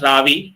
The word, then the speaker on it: Ravi: like my kind of name but it is pronounced as Ravi it is a short form of iravati so